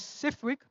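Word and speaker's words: CFIWG: starting off what does CFI WG commonly pronounced as cwick mean course feedback implementation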